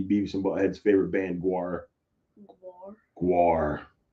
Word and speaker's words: Gwar: Because I thought it was like Guar. Nope.